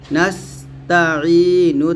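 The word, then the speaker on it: نستعين: একসাথে হবে ইয়াকা নাবুদু ইয়াকা নাবুদু ওয়া ইয়াকা নাসতাাইন থামলে হবে নাসতা ওইয়াকা নাসতাাইন ও ইয়াকা নাসতাাইন এসেছে এখানে আমরা যে ভুল করি উচ্চারণ সঠিকভাবে আনতে পারি না অবশ্যই ইয়ার উচ্চারণ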